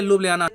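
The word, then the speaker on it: Ljubljana: जी हाँ, यहाँ पे जो जे है इसको ये या प्रोनाउंस करते हैं, तो आप कैपिटल को प्रोनाउंस करेंगे लुब्लियाना।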